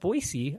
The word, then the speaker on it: Boise: Bolshandi um about the pronunciation of Boisey, the city where uh where I live. And so yeah, that that made me laugh. But you got it. It's Boisey instead of Boise, which most people don't know.